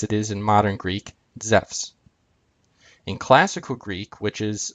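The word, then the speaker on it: Ζεύς: And Zeus would be pronounced Zephs.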